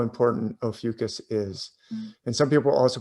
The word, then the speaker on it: Ophiuchus: of seeing this i didn't realize how important opheucus is and some people also pronounce it ah fucus i say ophiuchus it means the serpent holder and i'm gonna